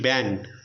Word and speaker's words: banned: They are BAND, band, BANNED, band. So both are pronouncing in the same way, but there is a lot of difference in meaning.